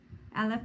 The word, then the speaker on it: Aleph: in the alphabet right Aleph this is how they say it in Hebrew and welcome again to